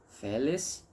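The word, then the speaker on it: felix: é e brissa sim Félix x a letra x em latim sempre terá som de cs então é que não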